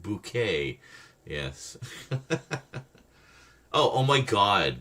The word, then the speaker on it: Bucket: Bucket High Bucket pronounced bouquet.